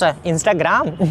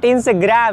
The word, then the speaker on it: Instagram: That's Instagram. No, that's not Instagram actually. That's called Instagram. Instagram. That's not Instagram. That's called Instagram. Instagram. Clear? You have to pronounce like that.